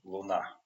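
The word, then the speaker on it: луна: So Luna, but in Russian Luna on the second syllable, Luna moon.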